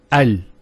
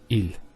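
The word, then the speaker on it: ال: of defineness that the is always pronounced with a fat not a and not a so it's always a al bait al and so on. It's never it's never ill.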